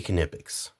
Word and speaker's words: Knipex: And I say Knipex. Actual people at the factory, I watched the factory tour, say Knipex. That's how they say it. Knipex. That's how the actual people that build these tools say the name.